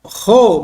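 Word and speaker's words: ρω: depois nós temos o Ro maiúsculo Observe que no português parece um p né mas no grego ele não é um P tá é um ro é um r o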